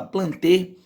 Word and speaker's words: Plantae: com o reino plante se escreve plantae mas se fala panther é um reino doce